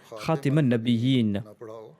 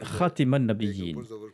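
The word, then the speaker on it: خاتم النبيين: entendu que l'enseignant à leur enseigner la prononciation ratman la biguine par lille à 10 ans et leurs ratés man la biguine à la place de rater manabi c'est à dire avec le fatras sur la lettre tard au lieu de la placera sous la lettre car certes c'est de prononciation sont possibles à dire lit mais je préfère la prononciation ratman la biguine car elle signifie le sou des prophètes raté mounana buy-in signifie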